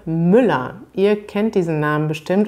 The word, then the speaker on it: Müller: diese menschen nannte man müller was muss man bei der aussprache beachten die häufigsten fehler sind zum beispiel bei englischen muttersprachlern dass man dieses er am ende über betont also dass man sagt